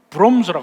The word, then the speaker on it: Worms: W-O-R-M-S. worms, 종교계에 굉장히 중요한 데인데, 그것을 영어는 worms라고 하는데 원래 독일어는 broms라고 합니다. V라고 표해요.